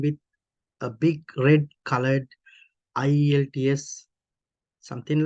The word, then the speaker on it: IELTS: like this IELTS IELTS they just pronounce they just read this as a word IELTS right you can hear this the word IELTS that means IELTS then some people even call these eyelids eyelids but it's not quite